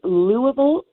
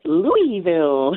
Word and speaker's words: Louisville: Yes, it is Louisville Historic Tours, or Louisville Historic Tours. It's all the correct pronunciation.